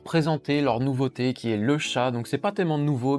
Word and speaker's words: Le Chat: Donc non, vous ne rêvez pas, c'est bien le chat prononcé en français, c'est pas le chat. Le chat, on dit bien le chat ou le chat? On dit le chat en français.